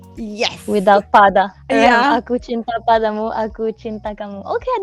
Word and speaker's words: aku cinta padamu: Okay, in Malay it's Aku Cinta Padamu. Aku cinta padamu. And then the other one I said was Aku cinta kamu, right? Yes. Without pada. Yeah. Aku cinta padamu, aku cinta kamu.